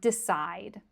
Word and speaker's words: decide: So, take the verb decide. Okay, it ends in an E, but it ends in a D sound. The E is silent, right?